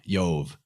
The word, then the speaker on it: Jove: Well, in the Romanized pronunciation of languages, the J or the I makes the same sound. It's like a Y. It's like ya. So Jove is like Yov, right?